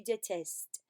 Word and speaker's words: détestes: And number 6, you hate, is tu détestes. And I know I'm not pronouncing the S on the end, but you need to have written it.